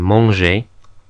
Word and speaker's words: manger: But like the C, if it's followed by an E or an I, makes a zh sound, like in manger. H is always silent in French.